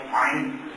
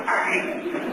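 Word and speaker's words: ع: Did I say it right? Ain. I'm still working on Ain. That's a hard one to do.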